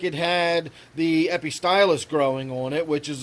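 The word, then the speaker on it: Epistylis: I'm sorry I always want to call it a pistol list but it's actually pronounced epi stylus every stylus almost looks like the way you'd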